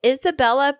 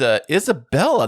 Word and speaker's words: Isabella: It's Isabella, not Isabel. I mean, I feel like that extra syllable is a lot to ask of people, so I'm pretty neutral about it.